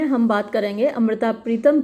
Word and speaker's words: पूरो: तो पूरो की स्पेलिंग कहीं POORO दी रखी है और कहीं PURO दे रखी है, क्योंकि ये उपन्यास ओरिजिनली तो पंजाबी में लिखा गया था। इंग्लिश में इसको खुशवंत सिंह ने ट्रांसलेट किया है, तो कई जगह स्पेलिंग डिफरेंट है। विकिपीडिया पर PURO दे रखा है और यहाँ POORO दे रखा है, लेकिन जो नाम है लड़की का वो पूरो है।